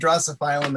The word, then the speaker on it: Drosophyllum: how you say it i just say drosophilum rosoflin and then this i looked online before this to see what the pronunciation and there are several pronunciation and drastophylum is on too it just doesn't work so well in my mouth for some reason okay so